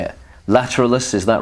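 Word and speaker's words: Lateralus: this new LP how do you say it lateralis is that right lateralis lateralis right okay so that's how it's pronounced before we talk about the the new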